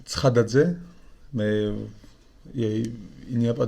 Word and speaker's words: Tskhadadze: ça se prononce Tskradadze, mais il n'y a pas de monde qui arrive à prononcer.